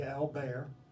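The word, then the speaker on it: Albert: name it is pronounced his French pronunciation of this first name would be al bear and his second name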